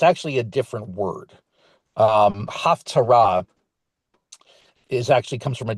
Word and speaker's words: Haftarah: The Haftarah has often been pronounced slightly differently. You often hear it being pronounced as the Haftorah.